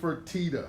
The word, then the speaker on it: Fertitta: Fertitta.